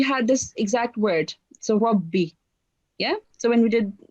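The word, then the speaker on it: رَبِّ: So you can see that the ra is carrying fatha on top. Therefore, we have this ra, it would be a thick ra. So make sure you pronounce it thickly. So try again. Rabbi.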